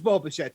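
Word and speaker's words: Bichette: and like you said it does rhyme with schmo machete it is boba shed 10.2 draftkings fantasy points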